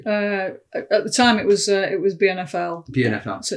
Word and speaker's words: BNFL: At the time, it was BNFL.